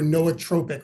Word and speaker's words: nootropic: so first I'd say what a strange word you Tropic right or noatropic or however you want to pronounce it it can go a variety of ways um the word nootropic